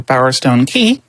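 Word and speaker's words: Bowerstone Quay: Now we get to head over into Bowerstone Key. Yes, I pronounced it Quay my whole life too.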